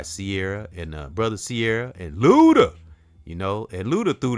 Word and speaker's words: Luda: brother Luda it's like you got to say his name like that Luda and I spoke on